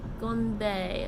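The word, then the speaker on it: 건배: That's the official romanization, but it's pronounced more like gonbei.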